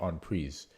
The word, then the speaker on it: en prise: I want to say en prise, but in the book I said it's pronounced en prise because that's what my research showed. Because it's French.